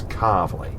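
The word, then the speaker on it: Calverley: our local area because the whole area of car is where it's like a region near the curve it's car and it's spelled c a l v e r l e y car and it's come up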